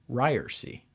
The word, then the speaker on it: Ryerse: remember you know you you spell it out but it's pronounced ryersy that's right hey do